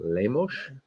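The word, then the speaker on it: Lemos: a five vers seven Amanda lamos you gotta say it like that too lamos the other four fights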